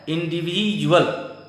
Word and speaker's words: individual: नौवां है इंडिविजुअल, INDIVIDUAL। यहां भी डी का उच्चारण बड़ी जॉ होता है, इंडिविजुअल।